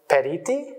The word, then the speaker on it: periti: theological advisors known as periti is that how you pronounce that dance that's right parenting the singular will